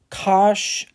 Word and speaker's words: cosh: When I learned hyperbolic sine, hyperbolic cosine, and hyperbolic tangent, I was told that they were pronounced cinch, cosh, and tanch, which cosh makes sense.